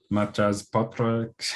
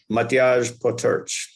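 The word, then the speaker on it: Matjaž Potrč: you've developed with, I'm not sure I could pronounce his name correctly, Matjas Potrach, something. Matjaž Potrch. Matjaž Potrch, okay.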